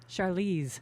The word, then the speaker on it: Charlize: Charlize, yes.